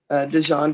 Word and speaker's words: Dijon: Okay, well, I'm moving forward then with, hold on, Dijon or Dijon. Mr. how do you say that? Oh, it's Dijon, ma'am. Dijon, okay, got it. Yeah, Dijon, like Dijon mustard.